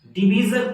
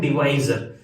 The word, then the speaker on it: divisor: जैसे अगर मैं इसको देखूं ग्रेटेस्ट कॉमन डिवीजर, तो इसमें सबसे पहले डिवीजर, कुछ लोग इसको डिवीजर बोलते हैं लेकिन इसका जो सही प्रोनाउंसिएशन है वो है डिवाइजर, तो अपन इसको डिवाइजर बोलेंगे।